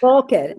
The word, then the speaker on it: Boker: Boker. Here definitely the accent is on the first syllable.